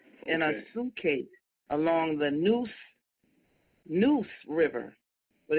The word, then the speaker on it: Neuse: Found stuff in a suitcase along the Neuse River. But it's not spelled Noose, it's spelled Neuse in North Carolina.